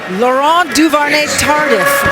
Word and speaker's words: Laurent Duvernay-Tardif: Love the way you pronounce that name. Michelle, give it to me one more time. Laurent Duvernay-Tardif.